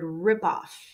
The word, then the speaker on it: ripoff: right so we need a strong stress on the first word ripoff okay the next one shopping